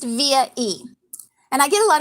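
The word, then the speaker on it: VIA-E: a dash e dot com um and it's pronounced via e and i get a lot of questions like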